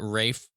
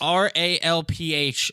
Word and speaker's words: Ralph: up by pronouncing it Rafe. Like if his name was spelled R A F E, like that's fine. It's Rafe, but it's I have the receipts. R A L P H is pronounced Ralph.